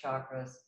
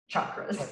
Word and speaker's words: chakras: it, and he says, I'm going to give Westerners permission to say chakras and say that's the English pronunciation. But the correct pronunciation is chakras.